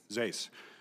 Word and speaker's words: Zais: administration, and that's to Deputy Secretary, is it Zais? Am I pronouncing? Zais.